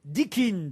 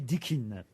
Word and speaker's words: Dickin: s'agit d'une récompense puisque c'est de la médaille dikin dont je vais vous parler qui récompense-t-on avec la médaille dikin Dickin ça s'écrit comment d I c K i n